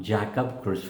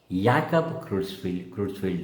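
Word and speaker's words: Creutzfeldt-Jakob: of Neurology the great neurologist late Dr noia pronouncing it as not jackob Cru disease but as Yak CR crfi disease let the students pick up this pronunciation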